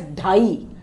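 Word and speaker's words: ढाई: Here we say it as dhai, dhai. So I'll just show you how to write and pronounce dhai this way.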